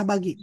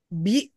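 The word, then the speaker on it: بِ: Kemudian harap jar selanjutnya adalah bi kasrah bukan bu dan bukan pula ba.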